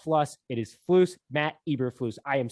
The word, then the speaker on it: Eberflus: It is Flus, Matt Eberflus.